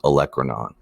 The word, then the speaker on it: olecranon: going to tuck in the back is the olecranon process and that word is pronounced olecranon and then right here this smooth rounded semicircle